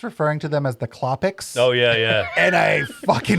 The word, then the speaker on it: Klopek: At the end of the movie, when the black cop comes, he keeps referring to them as the Klopeks.